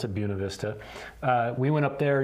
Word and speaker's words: Buena Vista: buena vista colorado and yes i did say buna vista it is spelled buena vista but coloradans pronounce it buena vista uh we went up there you got to